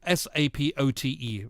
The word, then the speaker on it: sapote: black sapote support um s-a-p-o-t-e uh to the pronunciation is black sapote and it tastes like